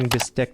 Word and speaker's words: bistek: It also goes by the name Bistek Tagalog. You may hear me going back and forth between pronouncing it bistek or bistig with a G, and bistig is what the dish is called in Pampanga.